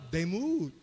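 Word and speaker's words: דמות: Double O, yung U. Medyo mahaba. Demut.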